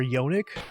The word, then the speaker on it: yonic: but for vaginas, or yonic. I've never heard anyone say it, but it's spelled like Sonic but with a Y instead of an S.